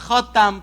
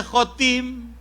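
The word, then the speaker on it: خاتم: bacanya Salah maknanya salah kalau bacanya khatam penutup setelah Nabi Muhammad enggak ada nabi lagi kalau dibaca khatim kedengaran enggak Kalau khatam pakai fathah kalau khatim pakai Asra kalau baca pakai khatim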